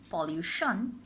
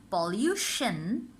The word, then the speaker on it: pollution: Often we make mistake and say position, pollution, and introduction. Follow the movement of my lips. It's shen, not shon. So it's position, pollution, introduction.